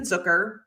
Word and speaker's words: Zucker: pickups let's give a shout out to Jason zooker rhymes with hooker and Anthony boiler I always have